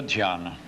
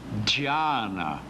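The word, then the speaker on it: ध्यान: O DH de Dharana, olha o som aqui, Dharana, é diferente do DH com Y ou com I. Como é que se pronuncia aqui? Dharana. E aqui? Dhyana. E aqui? Samadhi. O som muda.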